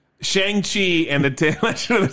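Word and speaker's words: Shang-Chi: as directly as i know how shang right shang chi and the tale of the center rings as we americans say yikes uh that's why he changed his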